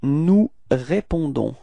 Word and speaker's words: nous répondons: So it's nous répondons. Repeat, nous répondons. So as usual, final S is not pronounced. Okay, so the only thing that is pronounced at the end, it's this O-N and it's on.